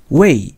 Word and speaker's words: 魏: It's Wei in Mandarin Chinese pronunciation.